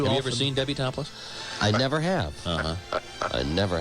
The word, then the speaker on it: Toplis: L-I-S instead of L-E-S-S, but it's Topless. And it's not how it's spelled, it's how it sounds.